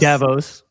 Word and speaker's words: Davos: Um so this week a big thing is happening at how do you say Davos? Davos.